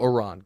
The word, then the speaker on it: Iran: Iran, and it's only because some of the Iranian journalists and players have been upset that people have been mispronouncing it. So, Iran, go ahead.